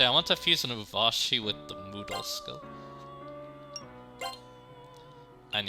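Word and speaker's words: Urvashi: And yeah, that's actually how my parents pronounce it. And interesting enough too, they ascribe... okay, so basically Uvashi is a Apsaras.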